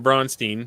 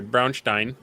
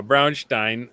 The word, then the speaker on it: Brownstein: Well, I I know they're working on on Bronstein or I'm sorry, Brownstein. I gotta say it right for the real one. Uh Brownstein.